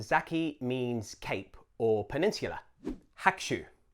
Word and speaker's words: Hakushu: Hakushu. Not Hakushu, Hakushu. In fact, the U of the ku gets a little bit swallowed up. It's still there, but better to say Hakushu rather than Hakushu.